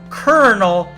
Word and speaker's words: colonel: So, that's actually pronounced kernel like you know like corn kernel or kettle colonel.